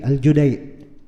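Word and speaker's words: الجديع: sebut padahal nama orangnya Abdullah bin Yusuf aljudai bukan aljadi aljudai Iya kalau tanya kenapa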